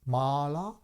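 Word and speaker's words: mālā: as it's this impurity with long r as Mala means the Garland or the uh Rosary traditionally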